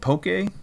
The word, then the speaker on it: poke: I had it's called poke. I think it's called. It's spelled Poke. There might be an accent over the e, kind of like in Pokemon.